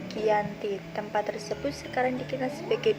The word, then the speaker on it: Giyanti: di desa Janti dan pelafalan daya tersebut sebagai Yanti dan secara tertulis ia terbaca sebagai Giyanti tempat tersebut sekarang dikenal